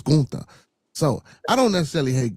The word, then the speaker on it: Gunther: It's not Gunther. Y'all stayed pronouncing the man right name wrong. It's Ga.